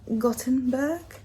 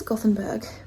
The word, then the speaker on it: Gothenburg: We are in Gothenburg. I'm pretty sure. I read it as Gothenburg, but it's pronounced with more of a T.